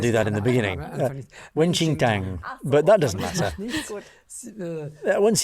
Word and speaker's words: Wen Qing Tang: The blend that clears heat, Wen King Tang. Did I say it right? Page 38? Now I have to see. You don't pronounce it like that, but it's similar.